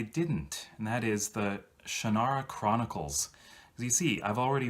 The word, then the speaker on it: Shannara: and that is the shannara chronicles' we see I've already read elfstones of Shanna you notice the change in the pronunciation yeah Shanna is how Terry Brooks pronounces it but since I'd already